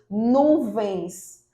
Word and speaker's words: nuvens: Além disso, nós temos nuvens. Nuvens. Então, observe que o nu é a sílaba mais forte, então ela é uma paroxítona, mas é terminada em ens.